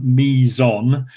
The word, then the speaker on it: meson: a meson is if we take the word me and we take another bit son mizon we've got two syllables so now two quarks